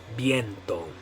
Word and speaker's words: viento: And the way you're going to say it in Spanish is viento. Viento. Viento. Okay, so in English we'd probably say viento or something like that. But in Spanish you're going to say viento.